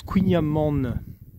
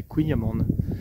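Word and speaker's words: kouign-amann: en fait se prononce couigna man c'est pour ça qu'il y a de haine en fait c'est que il amant et en fait on prononce le N de fin donc c'est kouign amande donc voilà vous le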